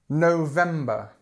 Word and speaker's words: November: again same issue okay November November same stress in the same place this o and this R sound November okay December December